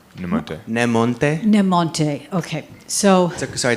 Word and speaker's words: Nemonte: This is actually a question for Alex Goff, and I don't know how to pronounce her name. Is it Kay? Yes. Namonte. Nemonte.